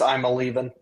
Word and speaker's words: Iamaleava: Enter Nico, and I still butcher the last name, Iamaleava. It's just I'm a leaving.